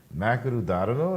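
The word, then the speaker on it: マクドナルド: Japan a lot, and I'm gonna tell you, Makanu Dadano. That's how they pronounce it over there.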